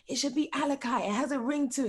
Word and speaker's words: Alicai: you say um alicia i actually pronounced your name alicia until i heard someone say alakai as well so you're